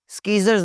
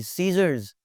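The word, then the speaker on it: scissors: स्कीजर्स नहीं बोलना जी, सीजर्स।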